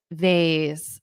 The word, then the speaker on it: vase: accidentally broke the ancient vase exactly you can say vase or vas and honestly I change my pronunciation sometimes I say vas sometimes I say vas you can say either one I gasp oh no